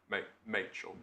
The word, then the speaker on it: Machel: Rachel, but with an M. Machel.